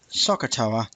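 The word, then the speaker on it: SOHCAHTOA: And you may remember, or you may not have seen, the really simple way of remembering SOH, CAH, TOA, fairly common, pronounced Sokotoa way of remembering sine equals opposite over hypotenuse, cos is adjacent over hypotenuse, and tan is opposite over adjacent.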